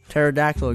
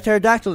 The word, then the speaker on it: pterodactyl: can't you hear a pterodactyl to go to the bathroom oh what a lame joke oh my god the P is silent have you told that